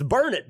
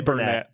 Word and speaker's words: Burnet: You say, it's burn it, darn it. Burn it. That's what they say in Burn it Austin. road. Burn it, darn it. Do we have a Dennis 3.0 pronunciation? Burn it. Yeah, I don't see why that's strange, that one. Well, That's a how- lot of people say Burnett. Burnett. Oh. But I've heard many people say Burnett.